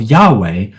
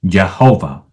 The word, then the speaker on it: Yahweh: Lord, or in Hebrew by substituting the vowels of Lord, Adonai, for the vowels of Yahweh that lie underneath the consonants, the origin of the mispronunciation of the name as Jehovah.